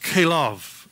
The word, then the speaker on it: Caleb: plan for his life the name Caleb is pronounced calav in Hebrew it's a compound word